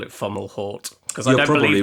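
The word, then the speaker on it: Fomalhaut: star i call it fomolo but you call it funnel halt i do call it funnel hort because that's probably right i don't believe the t is silent so but there we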